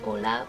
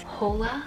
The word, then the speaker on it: hola: like two years ago she thought that ola was hola pronouncing the h i got her this